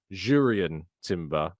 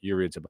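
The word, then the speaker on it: Jurrien Timber: about our pronunciation of jurian timber because it's jurian Timber not yurian Timber and look I don't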